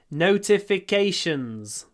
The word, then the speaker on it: notifications: is pronounced notified notifications it's on the notific fourth syllable notify notifications notify notifications